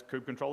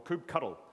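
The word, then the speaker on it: kubectl: get into a pod, it's kube control exec, or kube cuddle is another way it's pronounced.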